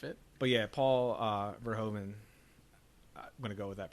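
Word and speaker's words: Verhoeven: the end of it but yeah Paul uh verhomen I'm gonna go with that pronunciation verhoven yeah wild director what else has he done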